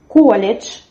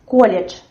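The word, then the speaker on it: колледж: Next word is college. Here we have almost the same pronunciation, and in written J.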